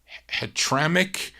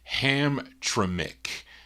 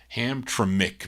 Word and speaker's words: Hamtramck: Is it Hetramic? No, can never pronounce this, Charlene's got to be phonetically, or I'm going to butcher this thing.